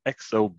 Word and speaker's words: Exobe: ago and i work with a company called xob a bit hard to pronounce but e-x-o-b-e dot com and uh we